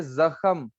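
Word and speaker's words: ਜ਼ਖ਼ਮ: तो ये जख्म को पंजाबी में हम पूरे अक्षर के साथ प्रोनाउंस करेंगे, जख्म, जख्म।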